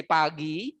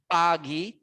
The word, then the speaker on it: pagi: by in the morning we say pagi pagi always two syllable pagi and then afternoon